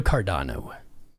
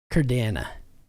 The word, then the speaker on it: Cardano: like whatever you want let's go cardano cardana let's do the cardana I love saying it wrong I don't know why